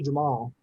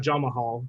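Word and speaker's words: Jamahal: which i found out it's actually jamal not jama hall the extra syllable is just silent i guess i'm dumb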